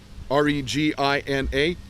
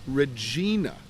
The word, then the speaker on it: Regina: R-E-G-I-N-A is Regina, not Regina.